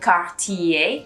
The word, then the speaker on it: Cartier: it up a bit like cartier you break it up into three so the n you